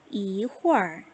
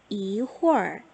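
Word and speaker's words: 一会儿: 혹은 글자는 세 개인데 발음은 두 개.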